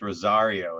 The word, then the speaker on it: Rosario: you right having fun i said your name wrong too it's rosario isn't it all right cool all